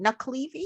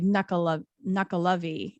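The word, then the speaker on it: Nuckelavee: But if you go to a Scots English pronunciation, that would be the one. It says like knuckle. It's like the emphasis on the syllable is different. It's like NECKELAVEE.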